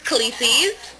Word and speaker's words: Khaleesi's: Am I pronouncing it correct right now? Yes, the name is Khaleesi's.